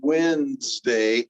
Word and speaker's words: Wednesday: Now this one, depending on how you say it, could be deletion or it could be metathesis. I feel like when I say Wednesday, I feel a D going between the N to the Z in Wednesday, Wednesday.